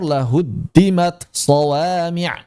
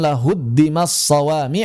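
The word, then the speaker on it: لهدمت صوامع: Maka dibaca izhar lahuddimat shwami. Jangan dibaca idgham lah huddimaswami atau diidgamkan sifatnya saja lahuddimat shawami dihilangkan itu si hamsnya.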